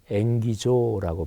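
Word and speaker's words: ἐγγίζω: 헬라어 발음으로 엥기조라고 발음하는데 이거는 뜻이 조금 독특합니다.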